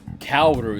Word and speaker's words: Kaoru: Kaoru is how it's pronounced.